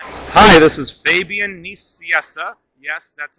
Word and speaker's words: Fabian Nicieza: hi this is fabian nissiessa yes that's how it's pronounced i'm the co-creator of deadpool and you